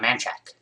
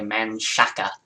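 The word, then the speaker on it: Manchaca: the library which is on a man check which I keep wanting to say man Shaka because that's how it's spelled but yeah so I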